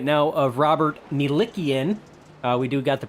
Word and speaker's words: Milikian: You see the 22 right now of Robert Milikian. We do got the pronunciation right on that one there.